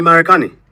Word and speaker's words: Marekani: in linguistics, but it's for the R in KiSwahili, it's not R, it's ara. You just lightly tap your tongue to the top of your mouth. Wewe ni Marekani. It bounces, just taps the top of the mouth.